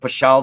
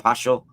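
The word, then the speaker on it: Paschal: So when Pope Pashall II, it's spelled P A S C H A L, Pope Pashel II.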